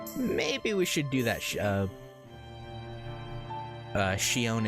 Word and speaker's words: Sion: Maybe we should do that, Shion, if you ask your Japanese voice actor to pronounce it. Okay. Well, I'll start saying it that way then, rather than Sion.